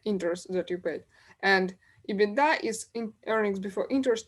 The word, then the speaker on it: EBITDA: and so on so those are beat and ebitda that's exactly how they are pronounced so beauty states for